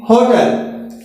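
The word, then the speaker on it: hotel: अगला है I live in होटल, इसका जो उच्चारण है ह से निकल रहा है, आ से नहीं लगेगा।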